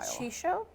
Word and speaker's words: Chicot: Shisho. kind of like Chico, but she at the beginning.